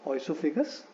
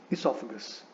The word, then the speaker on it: esophagus: सो we should not pronounce this word as ओइसोफेगस because there is द ओ एट the beginning is silent, so इट इज इसोफेगस.